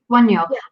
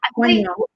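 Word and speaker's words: Wunjo: Wunyo. Wunyo. I think J is pronounced as we would say a Y.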